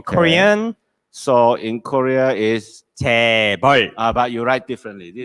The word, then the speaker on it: 재벌: So in Korea is 재벌.